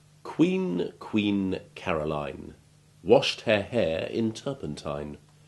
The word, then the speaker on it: Caroline: And just as we noticed that Caroline, with a stressed ending, has long I1 rather than the long I3 of Pauline, Geraldine or Josephine,